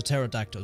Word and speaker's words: pterodactyl: dinosaur uh is a pterodactyl just because of the silent PE there's no need for it it's just funny it